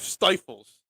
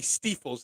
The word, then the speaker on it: Stiefel: Now, the way you spelled it would be Stiefels there. No, that's the proper way. That's the Stiefel spelled because E says I in German. I is pronounced E in German.